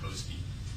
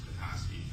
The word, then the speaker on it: Petoskey: I'm from Petoskey, if you pronounce it right. Most people call it Petoskey. I like to point out that it's Petoskey.